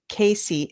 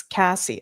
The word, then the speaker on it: Cassie: Not Casey, it's Cassie.